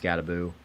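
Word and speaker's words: Skattebo: I don't like his name just because it should be 2 O's at the end of it. If it's pronounced Scataboo. He had 10 carries for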